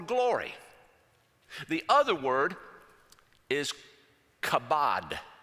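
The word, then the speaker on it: כָּבוֹד: he'd probably tell us, if you say it correctly, you're probably going to get a little spit on the back of the head of the person in front of you. Chabad.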